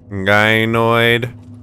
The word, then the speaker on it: gynoid: Gynoid. I learned that that is how you pronounce the female version of Android.